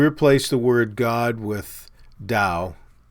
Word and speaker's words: Dao: the word god with dao that's pronounced with a d uh force or whatever